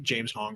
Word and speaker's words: James Hong: Is it James Hong pronounced exactly like it sounds? Yep.